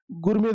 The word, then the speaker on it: gourmet: Gourmet the spelling I'm sorry. यह होना चाहिए दिया. T word is silent. T letter is silent ठीक है.